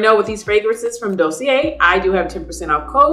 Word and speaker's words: Dossier: I'm finally pronouncing it right. Dossier.